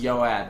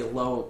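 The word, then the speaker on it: Ioeatt: t that's my username it's pronounced yoat but people say loow loow it because they don't know that a capital I is actually not a lowercase L what's your nickname load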